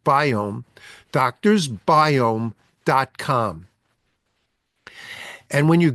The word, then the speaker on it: Biome: down you want to go online to doctor's biome I'll repeat this later in the show but